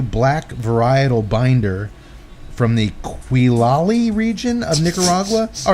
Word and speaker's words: Quilali: the Havana 92 black varietal binder from the Quilali region of Nicaragua. All right, how you say it, asshole? Q-U-I-L-A-L-I.